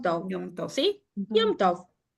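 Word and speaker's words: יום טוב: Yom Tov. En Yiddish, esto, y se escribe igual que en hebreo, se dice Yom Tev.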